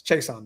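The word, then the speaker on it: Chaisson: It's Chason, though.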